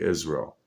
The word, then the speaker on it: Israel: words together, is real, if you said them together, it's like saying Israel. You know, because the way Americans say it, we say our words quick and run them together. So we say Israel. So that sounds like is real.